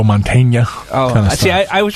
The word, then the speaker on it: Mantegna: he doesn't a pun the change becomes when there's a GN like Joe Mantegna oh yeah I was